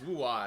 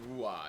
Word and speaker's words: Wuwa: I mean, it's woo-wah, it's how people pronounce it, is what I've heard, but I hear you. Yeah. I've heard woo-wah is the way I've heard it pronounced most of the time.